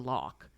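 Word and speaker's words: loch: And so when her grandfather, for example, pronounces the word lock, she says it in her head back like L-O-C-K, like has it actually pronounced, but it's spelled L-O-C-H.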